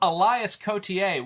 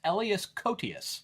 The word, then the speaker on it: Elias Koteas: Elias Cotier, which is what I thought his name was, but it's actually, I worked with him on an episode of House. It's pronounced Elias Koteas.